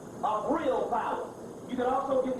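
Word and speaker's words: Vril: Alec McLeland, The Mysteries of Viril Power. That's the book, and the viril is spelled V-R-I-L, viril.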